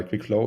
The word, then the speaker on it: QuikFlow: dot app right exactly it's like quick flow but without the C so how you would